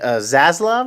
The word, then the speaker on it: Zaslav: The new CEO is a guy named David Zaslav, I believe is how you say his name.